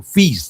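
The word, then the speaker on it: Fils: E eu sempre fiquei muito de olho, Toninho, no Arthur FS, o Arthur Fis, né, que os franceses falam na pronúncia correta, que jogadores de extrema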